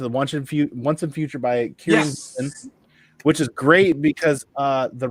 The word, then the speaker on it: Kieran Gillen: And we're going to go ahead and read Once and Future by, am I pronouncing it correctly? Kieran? Yeah. Kieran Gillen.